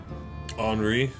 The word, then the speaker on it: Henri: Henri.